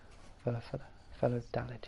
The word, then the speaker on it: Valladolid: So it's rejected a move to Real Valladolid, I think it's pronounced. Valladolid, yeah.